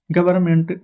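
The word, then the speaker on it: government: फिर एम एन टी गवर्नमेंट not helping the poor. कई लोग कहेंगे कि यहां पर गवर्नमेंट हो जाएगा। ना यहां पर एन जो है वह फ्रेंड्स हमारा साइलेंट रहता है।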